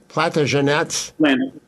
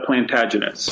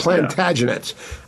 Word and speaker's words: Plantagenets: Platagenets. The plantagenets plantagenets.